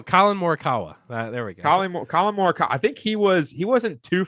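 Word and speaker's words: Collin Morikawa: Colin Morikawa.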